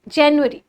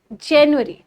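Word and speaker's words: January: अब जैन यूअरी जनवरी जनवरी ठीक है देखिए जो यू है इसको ज़्यादा मोड़ना भी नहीं कि जनवरी नहीं जनवरी जनवरी बहुत हल्का सा स्ट्रेस देना है जनवरी जनवरी इस तरीके से तो ये क्या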